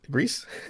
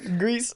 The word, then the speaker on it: Gris: Now even I'm mispronouncing it. Right? Right? What was it? Greece? Grease.